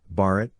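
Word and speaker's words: भारत: people of the Indus 57 the term Bharat Bharat pronounced be a T listen mentioned in both Indian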